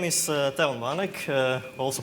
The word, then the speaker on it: Teon: can hear me well well my name is Devin Manik also pronounce this thing a bit like that character